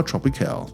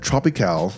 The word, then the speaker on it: Tropicale: rooms at the Colmar Tropicale. By the way, I just realized that Tropicale, which is the way I've been pronouncing it all along, it's actually pronounced Tropicale.